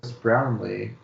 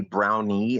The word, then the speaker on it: Brownlee: I know me too I always want to say brownie instead of brown Lee and I'm like wait a minute that's not right yeah I always pronounce